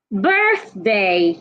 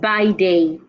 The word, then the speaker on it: birthday: a t h bathe birthday not by day birth remember the th sound birth birthday belated belated now this